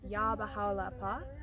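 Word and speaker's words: Yá Bahá'u'l-Abhá: the same in every Temple um and it's pronounced yah bahala and it means oh thou Glory of glories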